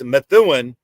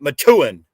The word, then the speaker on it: Methuen: methun really really close it's Methuen but locals pronounce it Matan me take the H